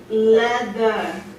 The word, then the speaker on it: leather: But the vowel before that voiced TH is very long. Leather.